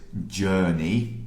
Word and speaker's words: journey: The pronunciation of this word is journey. So this is jur. Has the same sound as like bird or work.